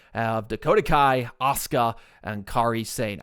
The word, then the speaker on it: Kairi Sane: They take on Damage Control of Dakota Kai, Asuka, and Kairi Sane. I think it's Kairi Sane is how you say it. I've seen some people say Kairi. I think it's Kairi Sane.